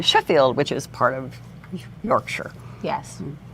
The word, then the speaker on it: Yorkshire: So you do know it's pronounced Yorkshire. I know it's pronounced Okay. Yorkshire. Okay. Like, I mean, like Worcestershire.